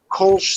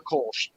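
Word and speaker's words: Kölsch: It's that umlaut, so it's a little bit of a ooh, but it's a sound that American mouths make.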